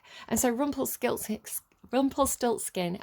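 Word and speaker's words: Rumpelstiltskin: so rumple skill six rumplestilt skin i think believe it's pronounced rumplestilts scat scheme rumplet rumplestiltskin i think is how you pronounce it uh because i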